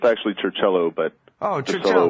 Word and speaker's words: Circello: hold right now on the telephone is James sir cell oh and Michael Reisner I believe is how you